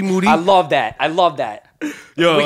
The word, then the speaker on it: Moody: It's the young shooter is here face-to-face live at the LA Gloom Tomb with me, Moody, last name rhymes with Tootie.